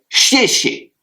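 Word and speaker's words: 谢谢: Mais vous avez peut-être entendu déjà les Chinois dire chier chier et bien c'est deux fois merci. Donc le premier chier est à ton fort et le deuxième est à ton neutre.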